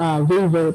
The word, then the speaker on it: Weber: Ang pronunciation pala ng is Weber po ang pronunciation ng kanyang surname.